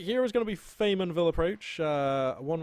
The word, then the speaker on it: Faymonville: and will approach one which i can now finally pronounce correctly after many months of calling it farm what I used to call it foul Mian will approach or something I used to just add an L sound into there for some reason